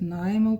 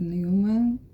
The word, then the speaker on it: Neumann: A pronúncia do meu nome pode ser Neumann, pode ser Neumann, tanto faz.